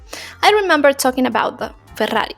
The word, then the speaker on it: Ferrari: speak faster than a Ferrari. Not a Ferrari, Ferrari, okay? Because in Spanish, 2 R's sound really strong. Ferrari.